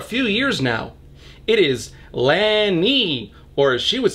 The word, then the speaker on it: Lani: saram for a few years now it is Lani or as she would say anni with an